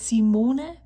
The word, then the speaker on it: Simone: hello there it's Simone what this is not how I pronounce my name it's Simone or Simon and I'm here with